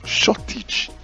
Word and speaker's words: shortage: Now the next one there is correctly pronounced shortage, as you can see, shortage, and not shortage, but shortage.